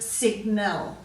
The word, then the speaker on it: sign: we're going on to the silent G in sign design assigned NAT Nome and gnarly so you've already looked these